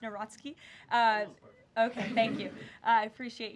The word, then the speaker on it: Nawrocki: He met with Karol Nawrocki, if I'm pronouncing that correctly. Yes, Nawrocki.